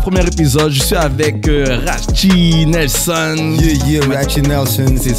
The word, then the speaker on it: Racci: C'est pas grave, premier épisode, je suis avec Rachi Nelson. Yeah, Rachi Nelson. C'est ça, il m'a dit qu'on prononce ça comme ça, Rachi. Rachi, comme Gucci, c'est R-A-C-C-I, comme Gucci, c'est J.